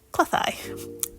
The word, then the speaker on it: Cleddau: river, Western Cleddau, which is spelled Cleddau, but pronounced Cleddau.